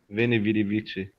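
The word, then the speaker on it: Veni, vidi, vici: Veni Vidi Vici. Not in Latin. It's with the W pronunciation.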